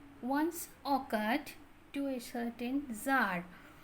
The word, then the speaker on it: Tsar: It once occurred to a certain Tsar, TSAR, এই উচ্চারণ হয় জার, রাশিয়ার রাজাতে জার বলা হয়।